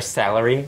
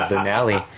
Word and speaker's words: Zanelli: And I could not get her name because I think the guy heard her name wrong, so he said Salari. Mm-hmm. So I kept calling her Salary until somebody said Zanelli, and I didn't notice it.